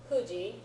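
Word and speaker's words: 九時: Kuji, right? Remember it's pronounced ku, not q, when you're talking about time. Kuji.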